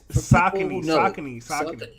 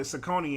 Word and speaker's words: Saucony: daughters man what's this salconies salsa meat it's saucony i'm gonna be honest where are we from